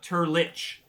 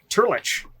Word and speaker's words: Turlitch: we might as well modify that last word that last part of the name so it is uh much easier to pronounce because i feel like turles has cannot possibly be the way that this is supposed to run off the human tongue how about turlich turlich that's good prior stoltz von turlich